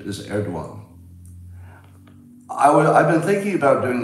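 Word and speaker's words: Erdoğan: And if you say people know, the pronunciation is Erdogan.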